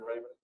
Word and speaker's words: Raven: We have one more item, and Chairman Raven. Thank you. I'm pronouncing that right now. You are, It's pronounced just like the other.